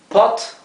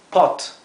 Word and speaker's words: pot: o verdad en realidad la o se pronuncia un poco más abierto que en el español en vez de ser o es es o verdad tenemos acá unos ejemplos Pot para esto es Pot Pot significa olla una